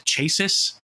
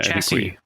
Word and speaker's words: chassis: The engine, the what is the chases? The the chassis.